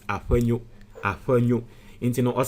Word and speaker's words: Afenyo: I know the right pronunciation, which is Afenyo.